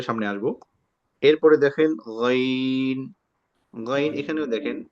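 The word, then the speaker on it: غ: আমরা অনেকে বলি আইন গাইন, এটা সঠিক উচ্চারণ না। সঠিক উচ্চারণ হচ্ছে গাইন। এরপরে দেখেন খ, এখানে একটা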